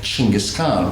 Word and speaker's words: Genghis Khan: She was the childhood sweetheart and long-suffering wife of Genghis Khan, which is the correct pronunciation.